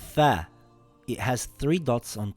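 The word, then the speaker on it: ث: In English, it is similar to the TH in the word three or the word think or math.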